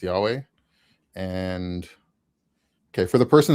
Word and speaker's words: Yahweh: So I think if we go with the Jewish pronunciation of letters currently where the vav is av sound then it would be yhovah. Um but if you pronounce the vav as a was sound then it would be yahweh.